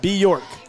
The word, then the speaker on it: Bjork: It's like New York, but it has without a B in it, so it's Bjork. Bjork. So Bjork. Sort of saying it right. Bjork. The J is Bjork. silent.